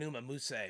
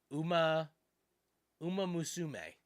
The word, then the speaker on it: Uma Musume: I've got an Uma Muse. What is that? How do you pronounce that game's name? Uma Musume.